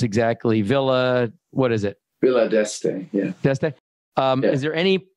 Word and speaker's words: Villa d'Este: So it's not like you weren't well-traveled or worldly, but like Pebble Beach and I don't know how to pronounce exactly. Villa, what is it? Villa d'Este, yeah.